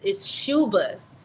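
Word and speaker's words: Schubas: It's Shuba's.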